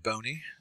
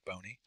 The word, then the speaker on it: Boney: Boney, pronounced like skinny, like bony.